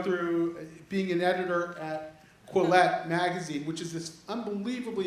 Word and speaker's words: Quillette: And Jonathan, I've gotten to know through being an editor at Quillette magazine, which is this unbelievably important journal that was formed in, what, 2013?